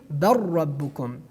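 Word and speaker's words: بل ربكم: And the next example, as you see in the screen, that is bal rabbukum, bal rabbukum. Based on idgham, we pronounced it bar rabbukum, bar rabbukum.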